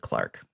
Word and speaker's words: clerk: Instead, he winds up working as a clerk, but they would pronounce it Clark. So I'm going to say that.